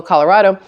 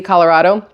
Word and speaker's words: Colorado: In Cannon City, Colorado, or Colorado, I think that's how you're supposed to say it. You're supposed to really pronounce that A.